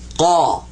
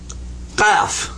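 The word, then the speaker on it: ق: And you catch in the back of your throat with this one. Qa. Can you make a click in the back of your throat like that with your tongue? Move your tongue and go.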